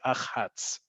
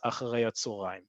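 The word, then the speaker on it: אחה״צ: means that it is not pronounced as a word. You will not hear people say Achats. It's just not a word. No one will understand you. You when you see that, it's understood and it's spoken as Acharei HaTzohorayim.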